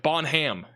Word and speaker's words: Bonham: you know you got Bonham looks like bonam you know like there